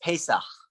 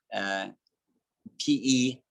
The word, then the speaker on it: Pesach: Passover, pronounced Pesach, which is a bit more difficult to pronounce. Pesach, Pesach, is the Jewish festival of freedom.